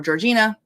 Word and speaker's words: Georgiana: Wickham was married to Georgiana um or Georgina I know it it aggravates people the way that Georgina is the way that uh English people pronounced that name um it's a whole